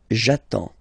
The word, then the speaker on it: attends: So the first form will be j'attends, j'attends. Okay, you get D and S, well, basically you don't pronounce them, okay, and then you get only the sound attends, nasal here, en, j'attends, okay.